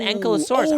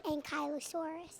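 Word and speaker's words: Ankylosaurus: Oh, an Ankallosaurus. I've seen I've seen those, but the actual name is actually an Ankyosaurus.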